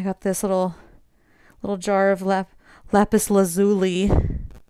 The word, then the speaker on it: lapis lazuli: I got this little jar of lapis lazuli, not lapis lazuli, like it's pronounced in Steven Universe, which is wrong.